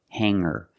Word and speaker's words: hanger: the r together hang hanger there's no G sound I cannot say hanger I cannot say singer it's hanger and singer example he has hangers